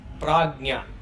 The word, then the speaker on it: Praajña: The microcosmic deep sleeper is called as Praajña. Praajña is pra plus ajna. In English, sometimes you write Prajna or Prajna. You should not pronounce it as Prajna, because Prajna means consciousness.